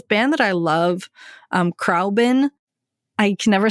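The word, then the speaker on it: Khruangbin: Um, Crabin.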